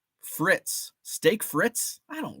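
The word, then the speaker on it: frites: Bonilla Cooter says it's Fritz you don't pronounce the e Fritz steak frits I don't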